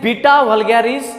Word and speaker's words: Beta vulgaris: This is the beta, not the beta. Okay, this is pronunciation is beta vulgaris, not the beta vulgaris.